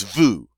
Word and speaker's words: vous: All right, but it is vous, and it rhymes with nous.